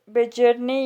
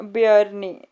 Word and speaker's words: Bjarne: तो बेजरने या फिर बेयरने, BJARNE स्पेलिंग ये होती है, पर इसको बजरने बेयरने जैसे भी आप पढ़ना चाहो वैसे आप पढ़ सकते हो।